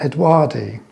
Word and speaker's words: odoardi: is this one, Coelogyne odoardi. I'll just look at my notes. It was, oh yes, it was first described and discovered by an Italian naturalist called Edoardo Beccari.